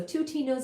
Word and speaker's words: twotinos: name of Tas tuas t t wo t i n o s rhymes with plutinos so twoos and plutinos interestingly there